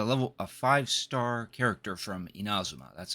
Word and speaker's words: Inazuma: a car a level a fivestar character from Inazuma. That's how you pronounce it along with a variety of weapons.